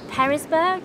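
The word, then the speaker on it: Pearisburg: I'm going to try and meet her at Woods Hole Hostel, which is near Perisburg.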